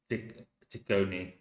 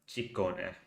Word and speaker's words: Ciccone: Okay, Madonna Luis Ciccone, or American pronunciation Ciccone, but Ciccone is the more appropriate.